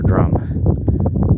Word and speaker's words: Drum: it's pronounced Drim or Drum. It's spelled D-R-U-M, but in Welsh I think that should be Drim. Is Drim correct? Yeah, it should be Drim.